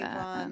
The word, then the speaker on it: Evon: Avon, like with that kind of an E.